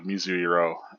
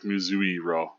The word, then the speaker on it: Mizuiro: So we get to establish that Mizuru and I always say Mizuru, but it's like Mizuiro. Mizuiro is technically, I guess how you say his name, but I always just kind of trample over that I in there, so I tend to call him Mizuru. Without really pronouncing the I.